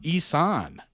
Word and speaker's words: Isan: to look for it pronounced isan it's a Thai dialect in Northern Thailand thank you for the